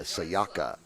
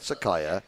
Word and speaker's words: Sayaka: She was quite keen to tell me that I was getting her name wrong yesterday, but it's Sayaka. Not Sakaya, Sayaka Shimbashi.